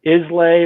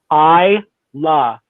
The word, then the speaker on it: Islay: distilleries on isla and if you're going to pronounce it islay or islay or whatever that's not the correct way to do it so if you want to be in the know i la is the best way to pronounce that and